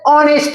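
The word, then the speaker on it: honest: তাহলে অনেস্ট ম্যান, তাহলে আমি যখন বলেছি এইচ থাকবে, কিন্তু এইচটা কি হবে না? কি হবে না? উচ্চারণ করা হচ্ছে না। এইচটা কি হচ্ছে না? উচ্চারণ করা হচ্ছে না, তাহলে সাইলেন্ট থাকছে, তাহলে এটা কি হবে?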